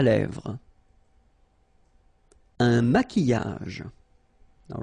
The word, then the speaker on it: maquillage: Un maquillage. Okay, so here, same rule, Q-U, but then U is not pronounced, so qui, and then y.